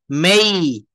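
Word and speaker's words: May: এটাকে বলা হচ্ছে মে। কি বলবো? মেই, মেই, যেই, খেই।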